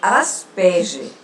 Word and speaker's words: Asperger: Eu sempre digo às minhas alunas que o nome é Asperger, né? A gente pronuncia dessa forma.